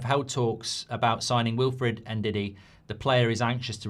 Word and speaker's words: Ndidi: There was something I saw on MUFC MPB this morning from about Ndidi and talks with Manchester United. How do you pronounce Ndidi? Because everyone's going, you pronounce it like P Diddy.